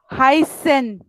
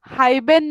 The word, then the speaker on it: heißen: हाइसन, इसका प्रोनाउंसिएशन हम लोग हाइबेन नहीं कर रहे हैं, इसका जैसा फुस में किया था, सिमिलरली यहाँ पे भी हमें हाइसन, जी यू.